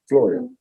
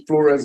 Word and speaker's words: Florio: Flores at first and then Floria. Okay. Florio. Florio, like Florio's Pizza up in Oh, okay.